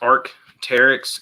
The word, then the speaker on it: Arc'teryx: I believe it's pronounced Arc'teryx.